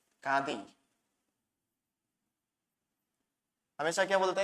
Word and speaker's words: गांधी: गांधी हमेशा क्या बोलते हैं? गांधी बोलते हैं। आपने बहुत जगह सुना होगा गांधी गांधी। गांधी जो है गलत उच्चारण है, इसका सही उच्चारण हो जाएगा गांधी।